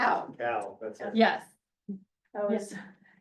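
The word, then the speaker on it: Cao: Have you done any polling on the Senate contests between Kane and how do you pronounce Cal. it? Cal, that's it.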